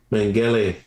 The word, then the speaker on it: Mengele: How do you say his name? Mengele.